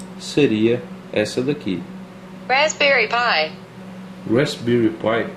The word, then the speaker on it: Raspberry Pi: O Raspberry Pi se escreve dessa forma e o Raspberry significa framboesa e a pronúncia seria essa daqui. Raspberry Pi.